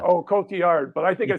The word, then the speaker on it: Cotillard: I screwed Just up think Marion Cotillard this morning. Is it Cotillard or I said Cotillard? yeah, it's Cotillard. Yeah. Oh, Cotillard, but I think I said lard.